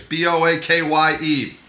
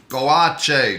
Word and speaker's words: Boakye: It's Boakye. Boakye. Just learn how to say it. The K-Y-E is Che. Che. Right? Boakye.